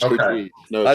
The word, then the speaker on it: Curtiz: I always pronounce it Curtis, but I don't know. It's Okay. Curtiz.